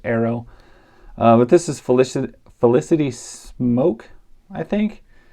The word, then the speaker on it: Smoak: But this is Felicity Smoak, I think. That's how you pronounce it.